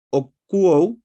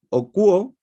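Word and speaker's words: ἀκούω: Entonces habíamos dicho que la primera era arjé, la segunda era okuo, okowo, con, como bien vemos, tiene el tilde, ¿cierto? El acento en la U.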